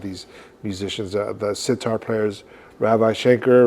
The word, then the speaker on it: Ravi Shankar: My friend Jason Becker turned me on to a lot of these musicians, the sitar players, Ravi Shankar, right?